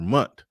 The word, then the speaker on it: month: The top creators on the platform earn around $100K per month. Per month. I hate when people don't pronounce the TH.